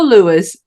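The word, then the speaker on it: Louis: book judge and Lewis is it Lewis am I saying that right yeah Le yeah Jud and Lewis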